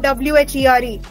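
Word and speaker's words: wer: Because the pronunciation is like the English word W-H-E-R-E.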